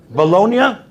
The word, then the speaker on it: Bologna: of bologna below not so you pronounce it you skip the g baloney how do you say it bologna anybody been there really